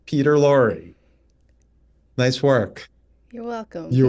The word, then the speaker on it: Peter Lorre: Peter Lorre. See? Yeah. Yes. Spelled differently, pronounced the same. Peter Lorre.